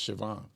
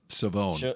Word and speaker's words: Shavon: First pronounce his name. Mickey Revel. I thought it was Siobhan. Savone.